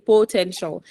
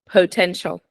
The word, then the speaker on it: potential: next potential potential potential you just pressed the syllable 10 by saying potential but the stressed syllable is po potential potential potential okay good